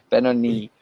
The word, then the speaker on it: Benoni: Should have asked you first, Benoni.